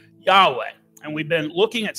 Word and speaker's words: Yahweh: just a wrong spelling it's really a wrong pronunciation of the Hebrew word Yahweh the true personal name of God revealed to Moses so